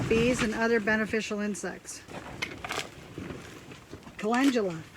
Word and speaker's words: calendula: Calendula. That's how you say it, calendula. Like I said, I'm just learning. I'll get it. It just popped into my head. Calendula, not calendula.